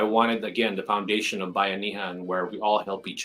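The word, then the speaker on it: Buy-Anihan: I'm doing it now so by Anem to me it's spelled Buu y Buu Y and then a n i h n so that's Bay Anan because the reason why I call it Bay Anan is because it's it's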